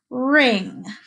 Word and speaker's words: wring: out of it right it's not like the ring you would wear on a finger so let's write it with me okay listen to this word ring W R I and